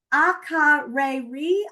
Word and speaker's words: Akureyri: Akureyri, Iceland. Seyðisfjörður, Iceland. I know, and believe it or not, this is how you pronounce these.